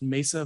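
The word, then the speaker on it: Meissa: co-founder and chief scientific officer of uh it's pronounced mesa vaccines thank you which is a clinical uh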